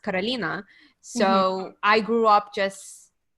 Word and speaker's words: Carolina: name um so because in russian it's pronounced carolina so i grew up